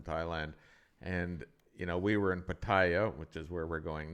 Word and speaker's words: Pattaya: So with that, let's go to Pattaya, or Pattaya, as we say it properly, the resort town.